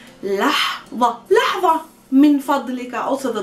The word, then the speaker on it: لحظة: لحظة, let's pronounce it good together. لح, it's the ح of حمار, the sunglass edge. لحظة, ظ, tongue between the teeth, and the sound, the place of articulation is really deep and far in the throat.